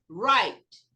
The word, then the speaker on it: write: Não pronuncio o E. Write. Nem o W. Pronuncia o I como se fosse I e fala write.